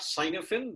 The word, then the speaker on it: Cynefin: It's not Cynefin. This is a Welsh word from the UK. It's called Cynefin framework.